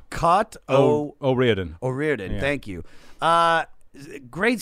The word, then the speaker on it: O'Riordan: O'Riordan.